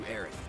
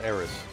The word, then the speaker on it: Aerith: We're here to rescue Aerith, remember? We don't need more attention than what we're gonna get. Yeah, Oh, so they pronounce it Aerith in the remake, not Eris.